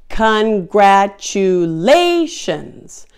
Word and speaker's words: congratulations: that with me congratulations congratulations it has five syllables and the primary stress syllable is lei congratulations once you know